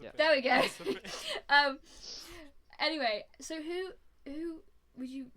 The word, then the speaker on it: Mazepin: But how do you pronounce it? Mazepin. Mazepin. Yeah. There we go. Mazepin.